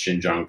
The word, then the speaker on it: Xinjiang: Xinjiang. Close. Xinjiang. Yeah. Close. Gosh, I got the wrong emphasis on the wrong Emphasis on the wrong syllable. So, Xinjiang province.